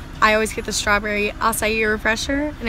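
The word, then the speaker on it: açaí: wrong about how I always get the strawberry asai refresher and it's pronounced asai but recently a bunch of workers have been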